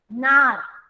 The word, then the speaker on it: gnar: Same, G silent, NAR, nar. Nar means ocean. Ocean की जो लहर आती है, समंदर में जो ऊंची ऊंची लहरें आती है, that is called nar. GNAR. Again, G is silent.